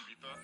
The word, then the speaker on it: Ibiza: Ibiza, yeah, it's pronounced Ibiza, actually.